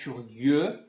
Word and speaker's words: curieux: Vous êtes curieux. Atenção aqui a pronúncia do U novamente.